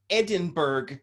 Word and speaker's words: Edinburgh: and there's london street i am on edinburgh street and you have to say it like that for anyone around here to understand what the